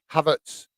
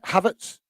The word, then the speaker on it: Havertz: You don't pronounce the H in the middle of it. Havertz. Is that correct? Does that sound right? Havertz.